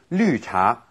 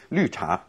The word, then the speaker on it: 绿: Here's another kind of tea, 绿茶. 绿茶. Literally green tea. Okay, and of course here we have again this pronunciation 玉 that we don't really have in English. 绿.